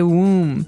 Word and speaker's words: womb: So this might look like a very hard word to pronounce. There's a b there. So, w m we don't pronounce womb. We say womb.